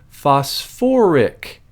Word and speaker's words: phosphoric: now for some reason acids that have phosphorus and sulfur in them add that extra little syllable in there just to make it sound a little bit less awkward so instead of calling